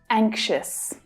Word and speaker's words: anxious: In the first syllable, the stressed syllable, the strong vowel sound A is followed by the consonant. And that consonant sound is usually made by the letters NG, like in song.